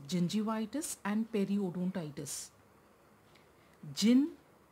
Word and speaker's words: periodontitis: Remember I told you, gum disease or the periodontal disease includes both gingivitis and periodontitis. So first, let's learn how to pronounce gingivitis and periodontitis. Gingivitis. Periodontitis.